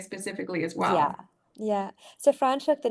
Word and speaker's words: Franschhoek: Yes, yeah, Franschhoek, Franschhoek.